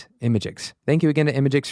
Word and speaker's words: imgix: That's spelled IMGIX, Imagix.